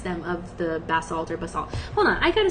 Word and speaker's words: basalt: It's pronounced basalt. Okay. So, I said it the right way. Basalt. All right. Cool. It rhymes with fault basically.